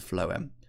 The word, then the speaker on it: phloem: felt the flow and remember those F sounds for phloem phloem take food from